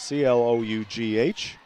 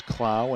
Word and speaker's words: Clough: A miss there by Cameron Clow. Want to apologize to Cameron and her family. We've been calling her Clough. It's C-L-O-U-G-H. Most times it is Clough, but it is Clow in this instance, so we apologize.